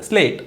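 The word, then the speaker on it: slate: तो ये होगा स्ल एट स्लेट और ये ई साइलेंट, स्लेट। अगला है स्लेव, एस एल ए वी ई, स्ल एव स्लेव।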